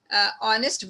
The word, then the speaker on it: honest: In third word, honest woman, H is silent.